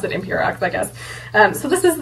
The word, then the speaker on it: Emperox: the other day that he meant for this to be pronounced Impero instead of Emperox, and I was like, I mean, huh, okay. I don't know, but I'm still gonna pronounce it Imperox, I guess.